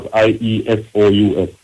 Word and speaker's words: Iesous: The word is pronounced as IESOUS.